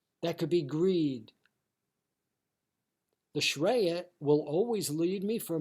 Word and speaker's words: shreya: And also there's priya, shreya, and buddhi as well too.